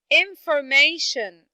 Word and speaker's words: information: How about the word information? Information. How many syllables do you hear stressed in this word?